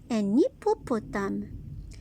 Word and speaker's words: hippopotame: H est une lettre muette. Un hippopotame.